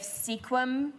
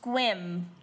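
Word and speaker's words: Sequim: the Olympic Peninsula and I was wondering if sequum was the same but it's it's pronounced squim oh well weird it's not spelled that way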